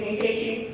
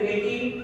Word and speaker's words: Nkechi: I mean, the most common I get is Nikki, and that's a whole 2 syllables away.